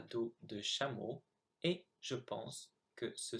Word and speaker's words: chameau: So here are the 8 words I mispronounced. So I should have said the second time traverser, dans, tout, Afrique, chameau, serait, génial, nul.